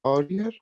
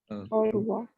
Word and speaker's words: au revoir: Like Aurea? Au revoir. Au revoir. Aurea? Au Au revoir. C'est clair? Okay, because OI sound is wa.